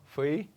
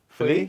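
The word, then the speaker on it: Feuilly: Fui. How do you say it? Fui? Philly? No, Fui. Philly?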